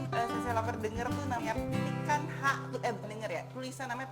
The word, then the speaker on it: picanha: Jadi kalau kalian Sase Lover denger tuh namanya pikanha, bukan denger ya, tulisan namanya pikanha, tapi kalau dibacanya kita mesti ikut-ikut kayak orang Brazil gitu ya.